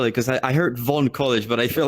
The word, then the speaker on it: Vaughn College: Because I heard Vaughan College, but I feel like I'm butchering it myself. No, you're saying it right. Vaughan College.